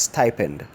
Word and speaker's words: stipend: People say stipend. Stipend is wrong. The correct rendition of that word is stipend.